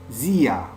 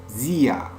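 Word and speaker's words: sehr: c'est cher c'est cher Zia Zia on prononce pas r à la fin on prononce ya ya Zia Zia Zia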